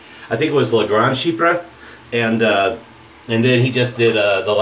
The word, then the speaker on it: Chypre: And female voice comes on and goes, Chypre, French. Chypre.